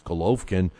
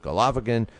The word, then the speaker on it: Golovkin: It's Golovkin, is the way an official Ukrainian person told me how to do it. I have pronounced it Golovkin, but whatever.